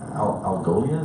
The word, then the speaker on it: Algolia: So Zoe you work with a company called Algolia, is that how you say it?